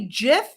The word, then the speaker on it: GIF: And I have to say, GIF is peanut butter. Giphy, right? It is graphics. It's graphics that we're talking about, which you pronounce with a G sound, like the back of your tongue.